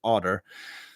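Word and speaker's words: Auder: Now, I almost don't want to give this to her because she pronounces her name wrong. She pronounces it Otter when she grew up in France. So it should be Ode, but I'll respect.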